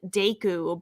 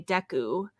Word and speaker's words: Deku: I grew up saying Deku, but now I say Deku. Yeah, and you could also do Deku. I've heard that a bunch. I think they're all okay. Like, I am accepting of all pronunciations of, I don't know, Deku.